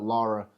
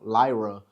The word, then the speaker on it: Lyra: trying to build up Lura uh Lyra I keep on getting her name wrong Lyra uh since NXT since